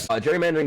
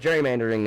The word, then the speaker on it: gerrymandering: Gerrymandering I like to call it gerrymandering because the original person original person uh was actually named Gary and was eventually turned into a soft G.